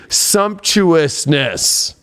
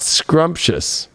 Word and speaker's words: sumptuousness: It should say sumptuousness, not scrumptious, like I talked about recently.